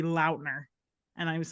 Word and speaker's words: Lautner: I saw TikTok the other day that Taylor Lautner said it's supposed to be Launer.